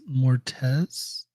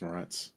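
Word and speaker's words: Moretz: sorry car Chloe Grace Mortez is how you say the last name I thought was morett morett morett Mor yeah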